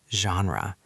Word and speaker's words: genre: Listen to the pronunciation. It is French. genre.